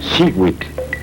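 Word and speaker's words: xihuitl: que contiene el color turquesa que se pronuncia hewitt en este caso hewitt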